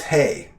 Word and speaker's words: Haigh: One of the squires served a pitchfork night, and the pitchfork night is House Hay. It's spelled Haigh.